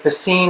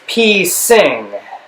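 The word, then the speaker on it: Piscine: that not so with pacine molotar patel some thought it was pee sing and that i was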